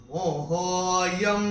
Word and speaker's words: मोहोऽयं: तो कैसे चैंट करेंगे मोहोऽयं विगतो मम, और य के ऊपर अनुस्वार के बाद का अक्षर है व। जैसे अनुस्वार के बाद यहाँ पे व था तो अनुस्वार का उच्चारण म हुआ था, यहाँ भी अनुस्वार का उच्चारण म ही होगा।